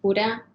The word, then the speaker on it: Curea: actually um you know back home my last name is pronounced cuda but i know it's